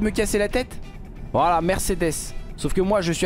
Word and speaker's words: Mercedes: allez arrêter de me casser la tête voilà Mercedes sauf que moi je suis alsacien je suis